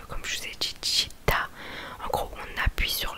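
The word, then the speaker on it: città: Par exemple, là j'ai un mot sous les yeux, chita, qui veut dire ville. En gros, chita, on appuie sur le A, sur la dernière syllabe, sur le A, et ça s'appelle l'accent tonique.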